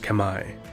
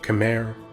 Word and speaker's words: Khmer: which is now modern-day Cambodia the Kemmer correctly pronounced Kamai or Khmer or camera in English are an ancient people